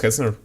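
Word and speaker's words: Hetzner: Like I'm using Hezner. I probably won't be able right now because I'm not sure if like it it shows any personal personal information, right? It's pronounced Hezner.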